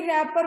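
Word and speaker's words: wrapper: Means medicine निकाल ली गई है और उसका बाहर वाला जो कवर है वो बच गया है, उसे रैपर बोलते हैं। तो रैपर वर्ड में W इज साइलेंट, ओके।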